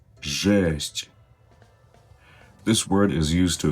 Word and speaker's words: жесть: Жесть. Жесть. Right, this word sounds like the first part of the word gesture, right?